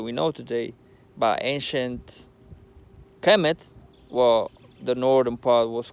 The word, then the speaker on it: Kemet: Kemet means to live in, and it's pronounced Kemet.